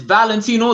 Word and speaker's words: Valentino: name properly is it valentino it's it's valentino the same way that you spell it properly the only reason why